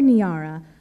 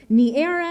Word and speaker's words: Niara: of my name tags Niara looks like niera naira naira in the area near and sometimes drip slowly and uncertainly out of mouths like Niagara as if I've misspelled my own name without a g when I tell them